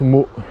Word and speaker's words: Motz: région et a priori je pense que l'on prononce mot je suis même quasiment